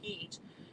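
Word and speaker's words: Hit: in a place called heat it's spelled h-i-t but it's pronounced heat in iraq which was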